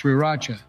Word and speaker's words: Sriracha: Trump, it's pronounced sriracha.